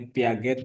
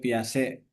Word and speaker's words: Piaget: Poin-poin yang lain Piase dan mau tadi sebutnya Piaget, Piase ataupun siapapun ya cara bacanya Iya. karena beberapa dosen beda-beda kita menyebutnya.